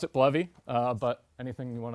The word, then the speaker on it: Bleve: bovy what is this I thought it was pronounced believe uh and i' every I would say 5050 people I run into pronounce it bluy or believe uh I pronounce it bluy uh but anything you want to pronounce it